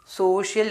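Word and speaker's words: social: ഉച്ചാരണം ഷ് എന്നാണ് അതായത് സിക്ക് ശേഷം ഐ എ അല്ലെങ്കിൽ ഇഎ വന്നു കഴിഞ്ഞാൽ ഉച്ചാരണം ഷ് എന്ന് ആണ് നോക്കാം സോഷ്യൽ എന്ന് ഇവിടെ എഴുതിയിട്ടുണ്ട്. എസ് ഓ സോ സി ഐ ഇന് വന്നിട്ടുള്ളത്. എ ഐ എ കണ്ടോ ഐ എ ഉച്ചാരണം എന്താഷ് അല്ലേ? സി ഐ എൽ സോഷ്യൽ അപ്പ എസ് ഓ സി ഐഎ എൽ സോഷ്യൽ എന്നാണ് വായിക്കേണ്ടത് ഇനി ഓഷയൻ ഓഷൻ എന്ന്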